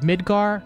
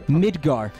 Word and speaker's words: Midgar: what was it called Midgar yeah what's the don't mispronounced that when I learned that the hard way the last time oh you want to get some Midgar make sure you pronounce the D hold on hold on